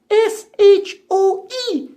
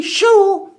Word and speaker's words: shoe: Yes, and shoe is funny because it's spelled S-H-O-E. But we don't say show, we say shoe. That's right, Mr. Frog. You just have to know that S-H-O-E is pronounced shoe.